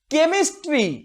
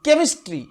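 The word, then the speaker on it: chemistry: আবার ক সাউন্ড তৈরি করি, যেটা আসলে কেমিস্ট্রি। এটাকে আমরা ক বলি ঠিকই, কিন্তু এর উচ্চারণ অনেকটা ক্ষয়ের কাছাকাছি, কেমিস্ট্রি, কেমিস্ট্রি।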